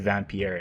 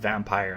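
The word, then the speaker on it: Vampyr: And people talk endlessly about how good Vampier is. Um, so or I guess it's pronounced vampire.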